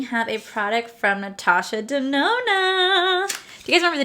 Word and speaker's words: Denona: a product from natasha denona do you guys remember the days when i used to say natasha danone because i couldn't figure out how to say the right name so this oh this